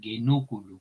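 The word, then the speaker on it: genuculum: En cualquier caso, recordar genúculo, el acento nos viene en esta sílaba, puesto que la penúltima tiene una vocal breve.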